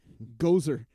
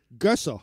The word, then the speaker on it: Gösser: Gozer. Gösser. How do you say it? Gösser. Gösser.